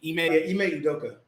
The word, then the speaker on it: Ime Udoka: Ime Udoka.